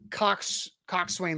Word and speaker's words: coxswain: Is it spelled like this? Coxon? Yes, that is how it's spelled.